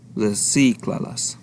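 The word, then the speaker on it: recíclalas: And then once you attach it, you need to count 3 syllables backwards, starting from the end, and add an accent. In this case, it's going to fall into the I. So reciclalas.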